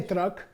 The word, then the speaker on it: truck: That's a palatal. You say truck. It's a CH. We don't say truck, okay? We say truck, which is crazy. TR is C-H-R. Truck, okay?